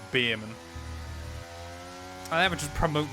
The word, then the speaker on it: Bearman: on Earth is olle Beerman he went is that not how you pronounce it I went no it's literally spelled bear man where did you get